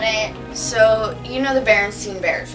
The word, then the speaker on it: Berenstain: with Berenstein. Yeah. It's always been like that. Then why is it the Berenstain Bears? Like a stain on your shirt, that's how it's spelled.